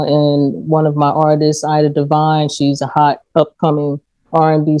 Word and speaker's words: Ida Divine: Ida Divine, like Divine Time. That's Divine right. Ida Time.